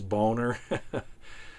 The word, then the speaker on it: Boehner: I can't figure out how to say his name. He pronounces it Boehner, but I think it really is Boner.